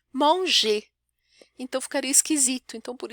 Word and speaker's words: mange: Então, je mange, aí esse AN vai ter um som meio de ON. Vocês vão se acostumar com ele. Je mange, tu manges, elle mange, il mange,